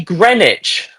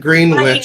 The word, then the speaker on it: Greenwich: But it's You say Greenwich. Yeah. Yeah. It's not Green Witch.